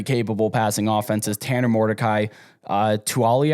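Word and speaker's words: Taulia: Tanner Mordecai, Tuali, I believe is the pronunciation, Tagovailoa, brother of Tua.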